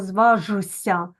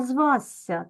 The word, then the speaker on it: зважся: наприклад слово звася звазся ми ж не кажемо зважся Ми кажемо звазся так от Отже у